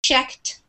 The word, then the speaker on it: checked: has the D sound but checked has more of like a t sound at the end